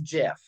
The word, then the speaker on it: GIF: in the book that the guy who designed who started it all out said it was JF he was a gif